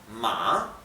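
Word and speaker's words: 马: Y esto se pronuncia ma, bien, la A baja y sube la pronunciación.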